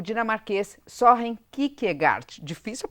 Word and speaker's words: Søren Kierkegaard: Em dinamarquês, a pronúncia é Søren Kierkegaard. Søren Kierkegaard. Mas aqui no Brasil a gente fala Søren Kierkegaard, porque é mais fácil e é assim que a gente fala.